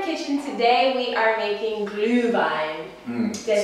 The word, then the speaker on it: Glühwein: Today we are making Glühwein.